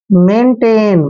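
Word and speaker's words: maintain: एम का उच्चारण मैं करते हैं, ए आई को ए की मात्रा पढ़ते हैं, एन को हमने न लिखना है, मेन। और देखिए टी को टे पढ़ते हैं, ए आई को फिर से ए की मात्रा लिखेंगे और एन को न पढ़ते हैं, मेंटेन।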